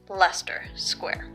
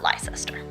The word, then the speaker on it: Leicester Square: to pronounce certain things it's pronounced Leicester Square not lie sister and how to travel